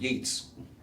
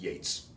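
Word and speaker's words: Yeats: There was a horse called Keats and you could say Keats and Yeets. Well, if you read it all, you would know that this guy's name is pronounced Yates, but that's just what you should read.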